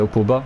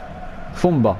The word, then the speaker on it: Fomba: Enfin, si j'ai bien prononcé, c'est Opoba, je sais plus. Fomba, pardon. J'ai écorché son nom.